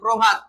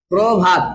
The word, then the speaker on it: প্রভাত: পরে আরো দিব না র ফলা যদি থাকে প্রভাত প্রভাত আছে না তাহলে কি হবে এটা প্রভাত শব্দের আদিত হইলে ওকার হয়ে যাবে আর শব্দের মধ্যে এবং শব্দের অন্ত হলে